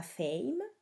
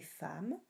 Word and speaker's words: femme: Par exemple, monsieur ne se prononce pas monsieur, femme ne se prononce pas fame, mais femme, parking ne se prononce pas parking, c'est un mot anglophone.